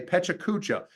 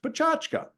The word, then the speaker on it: PechaKucha: word a lot of people want to say PETA cucha but that's not it it's actually PR pronounced pachka it's actually a Japanese word and if we